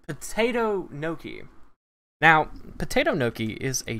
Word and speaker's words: gnocchi: want to try it but i called it ganuchi because i didn't know how to say no key and uh so yeah that's that's kind of